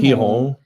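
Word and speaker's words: Gijón: Um Ken Cruzen, we we went to Gujon pronounced he hihong and we did a Cidra tour.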